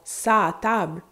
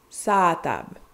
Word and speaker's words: s'a table: Mais j'ai dit non, son sa table. Sur la table, sur à table, sa table. Et on le prononce avec un A un petit peu plus long.